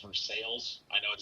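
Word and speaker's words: Versailles: since i grew up in that area it's pronounced for sales i know it sounds like for stocks and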